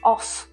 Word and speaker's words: off: до он буде о Зверніть увагу що коли у вас о і дві F то це читається як оф А ось це читається